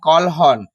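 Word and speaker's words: কহ্লন: এখানে দেখো একটা বানানের বিষয় রয়েছে, আমরা উচ্চারণ করি কলহন, কিন্তু বানানটা কিন্তু এটা হবে ক হয় ল ন, কলহন, কহলন।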